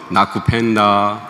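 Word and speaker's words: nakupenda: 수활은 그냥 소리 나는 대로 읽으면 되고요. 액센트는 뒤에서 두 번째 모음에 있습니다. 무조건. 그니까 잠보, 아산떼, 나쿠펜다 이렇게. 예.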